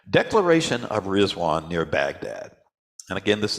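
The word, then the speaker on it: Ridvan: doesn't look like rizwan it's spelled r i d v an but it's pronounced rizwan Declaration of rizwan near Baghdad and again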